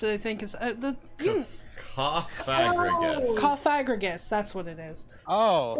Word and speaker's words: Cofagrigus: Jesus coffing Gus I think is the cagus cofagrigus that's what it is oh the Pokemon the